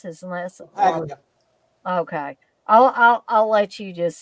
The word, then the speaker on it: Paglia: Um, Anthony, how do you pronounce his last? Paglia.